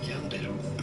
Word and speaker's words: yandere: of two Japanese words, yandere meaning to be sick, and dere dere, which is defined as strongly and deep Yandere?